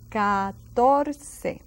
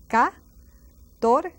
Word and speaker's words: catorce: And see that C again? We have two C's pronounced differently. Catorce. Now, Don't forget those C next to E's and I's, they take the place of an S. And then the A and the O and the U next to a C takes the place of a K sound.